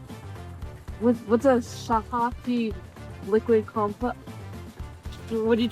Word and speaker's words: shilajit: Shilajit um shilajit is how you pronounce it.